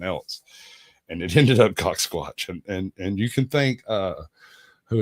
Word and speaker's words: CaucSquatch: I love that it's pronounced CaucSquatch.